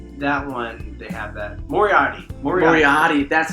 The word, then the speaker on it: Moriarty: Moriarty. That's how you pronounce it.